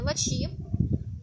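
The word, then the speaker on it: Latchi: Еще одну ночь мы ночевали на шезлонге в деревне Лачи, или Лаки пишется по-английски, то есть киприоты говорят Лачи.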